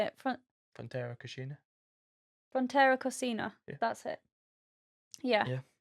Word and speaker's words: Frontera Cocina: but this time we tried Fonterra Oh Cascina. yeah. Oh, I've done a reel on it, and Yeah, I had to learn how to say it. Fonterra Cascina. Frontera Cocina.